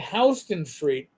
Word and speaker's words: Houston Street: see in New York we have Hston spelled the same way, but Hston Street should be really Houston Street. I don't know why it's Hston.